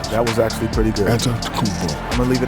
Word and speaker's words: Antetokounmpo: A tremendous game we're seeing from Giannis Antetokounmpo.